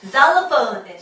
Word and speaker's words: xylophone: 자, 그 다음에 X는요, 맨 앞에 오면 Z 소리가 납니다. 여러분 좋아하는 그 껌, xylitol 껌도 있지만 뭐 xylophone, 실로폰이라고 알고 있는 xylophone이 대표적인 케이스고요.